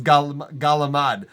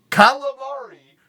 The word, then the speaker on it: calamari: Calamari turns into galamad. It's because they don't want to pronounce the C. But you're so close with the G, you might as well finish it. Finish the pronunciation, or rather start it. Just start it.